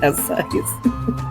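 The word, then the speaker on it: Assizes: I Googled it and the first thing definition and a way to say it is S size. A size. That's how you say it.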